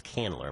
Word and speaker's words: Candler: And and I got that name wrong. It's Canler.